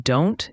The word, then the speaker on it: don't: The T in don't is often not pronounced, or it's a very light glottal stop, meaning you stop the air in your throat briefly.